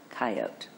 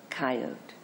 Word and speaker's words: coyote: Pronunciation, coyote, but chiefly Western, coyote. After years away, I met you again on the tongue of an old friend from home, coyote.